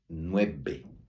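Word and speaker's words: nueve: escreve assim Nub Nub a letra V ela vai soar b de bola nós Já estudamos isso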